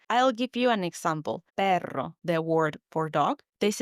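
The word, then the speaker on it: perro: Notice how I roll the now. The pronunciation can take you time to master because it's a very strong sound.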